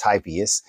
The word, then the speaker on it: Typhoeus: uh the word tyus actually and it is pronounced typhus it uh tyus was the son of Gaia